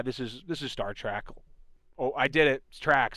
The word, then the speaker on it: Trek: Trek. Not track. I know. I got flack last episode for that. Sorry guys. Trek.